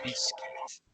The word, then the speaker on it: biscuit: Esta U no se pronuncia, se dice biscuit.